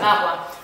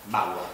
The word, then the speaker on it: Bagua: ¿Se pronuncia? Bagua. Bagua.